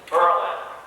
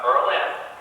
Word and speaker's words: Berlin: you that are residents you know how to say the thing berlin and to you to those that are from out of town it's berlin uh berlin so you learn something when you come here tonight we hope to stick